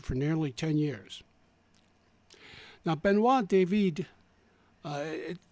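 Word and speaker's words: Benoît David: nearly 10 years now benois David uh it's spelled David but it's pronounced with the E on the end as if was born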